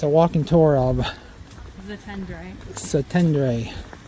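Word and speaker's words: Szentendre: Zatendre. Zatendre. Weird spellings. SZ Z.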